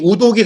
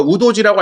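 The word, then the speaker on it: Udogie: 토트넘은 이번 경기를 앞두고 이탈리아 청소년 대표 왼쪽 윙백 데스티니 우도기 선수를 영입했습니다. 저희가 우도지라고 알려드렸었는데 실제 발음이 우도기라고 본인이 소개했기 때문에 우도기로 정정하겠습니다.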